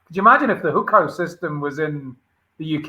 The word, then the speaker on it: Hukou: The one that I found the most interesting was about the, I don't know how to pronounce it, Hukao? The Hukou system, yeah.